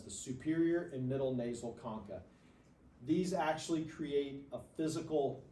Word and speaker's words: concha: Superior nasal conka now it's spelled like you might want to call it Concha but they're conka those are superior nasal